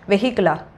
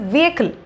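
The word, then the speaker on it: vehicle: ஸோ இங்கிலீஷில் அது எப்படி வந்து சொல்கிறது, வெஹிக்கிளா? இது வந்து வியக்கிள் அப்படின்னு சொல்கிறாங்க, வியக்கிள்.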